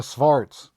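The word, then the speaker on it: xvart: bad case of the svarts yep all right great sure why not what else could go wrong this really stinks oh i checked it really is pronounced start fart smart x-v-a-r-t by the way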